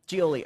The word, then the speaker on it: Giolli: veronica how do you say your last name julie julie oh that's not even that hard thank you